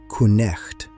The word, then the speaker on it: night: Back then, you wouldn't say night. You would say "kuh-necht". That's right. Every single letter.